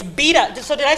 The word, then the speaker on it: Bieda: And it's Bieda. So did I say Senator Bieda? Not Bieda? You don't get to change a whole bunch of pronunciations. He's saying like in Italian it's Bieda, in Polish it's Bieda, and here it's Bieda.